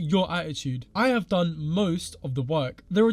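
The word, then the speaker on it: 萌え: of girl it's called Mo pronounced Mo with a long o followed by a long a what the [ __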